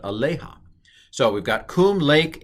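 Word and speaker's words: עָלֶיהָ: this is aleja and the accent i believe is on the lay aleja not aloha but aleja so we've got coom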